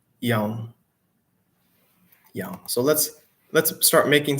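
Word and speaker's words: يوم: So yaumun, a day. But again, we don't pronounce that last vowel if it is the end of the sentence, if we're stopping.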